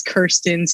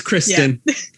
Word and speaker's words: Kristin: don't feel that bad i've gotten like a million christina's kirstens kirsten's christie's like so many of them so pretty much i've just gotten very good at deciphering like when people mispronounce my name you can see in their face maybe if they're trying to say you just say it for them yeah it's kristin okay all right well